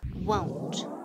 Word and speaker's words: won't: Will not, contraído, is won't. Won't. And the pronunciation, decimos won't, como si fuera o-u. Don't, won't, no, want, okay?